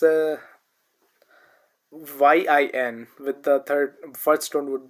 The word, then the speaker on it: yin: It's pronounced as yin. Just like when we say green yin yin when how so it has uh you know a different rule from uh it does not follow the same rule as the previous sounds followed.